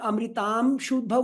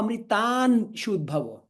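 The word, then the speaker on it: अमृतांशूद्भवो: On number 21, Anuswara followed by Sha, is it going to be pronounced as Ma or Na? On Amritam Shudbhavo or Amritan Shudbhavo? Amritam Shudbhavo. Ma. Amritam Shudbhavo. There is no nakara there.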